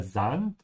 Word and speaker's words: Sand: Weil da der Sand ist, der Sand, just like in English sand, just make sure to pronounce it correctly, and with an open A.